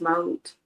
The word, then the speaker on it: Ma'at: That's So, Ma'at. That's an Egyptian goddess. That's an Egyptian yeah, god. Yeah. yeah. Well, I've known it to be pronounced Maut.